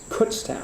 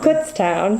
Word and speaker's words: Kutztown: is that how you say it we we pronounce it Kutztown Kutztown Pennsylvania um and I have just spent the